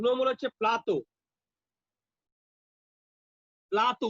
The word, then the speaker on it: plateau: প্লাতো উচ্চারণটা শোনো আমার, প্লাতো। PLA TEAU প্লাতো। এর উচ্চারণটা হচ্ছে প্লাতো, মানে বাংলায় বললে পয়লা আকার তয় ওকার, প্লাতো।